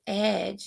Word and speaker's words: edge: spelling this word so Edge is e d g e and we see that d g says the soft G sound now in our class the soft G sound is on the jwall card because it says the J sound okay let's move on